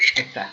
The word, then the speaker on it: Lissette: Lisette se escribe Lissette, Lisette. Siempre lo aclaro porque es un nombre que se escribe de diferente forma.